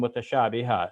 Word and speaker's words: متشابها: And now here, because I stop in the Arabic, I'm saying mutashabiha. So when we have that an sound at the end and we're stopping, we make it as if it's a long A.